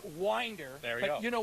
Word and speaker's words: Winder: Oh, it is Winder.